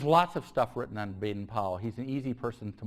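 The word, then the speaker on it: Baden-Powell: uh Baden uh Powell Baden Powell it's the best way of pronouncing it uh and the origins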